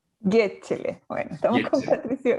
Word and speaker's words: Gecele: Gesele se pronuncia, ¿no es cierto? En verdad, No, no, pero a mí me da lo mismo, a mí me da lo mismo, pero es Yechel, Getchele.